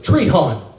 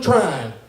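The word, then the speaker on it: Trion: but everywhere I go if somebody reads off trying they mispronounce it is it's spelled t r io n trial but everybody goes tree hunt try on every try one tree hunt no no I'm trying like I'm trying to get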